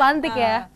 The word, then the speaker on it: Antique: Tulisannya ya, bacanya tetap sama. Bacanya tetap Antik ya. Itu kenapa tuh? Dulu kan namanya Antik Kue. Itu Antik Kue banyak orang bilang, sebenarnya kita maksudnya pengen orang mengucapkan Antik.